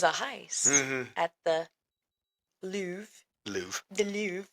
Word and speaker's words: Louvre: At the Louvre That's how you're supposed to Museum. roll your R's in French. You're supposed to do it with the back of your tongue.